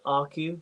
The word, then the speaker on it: Earcu: the platform we chose was a company called RQ. So it's spelled EARCU, where the E is silent, and they've got an